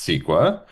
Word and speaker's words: CEQA: So the California Environmental Quality Act, which is pronounced SQUA, is a more than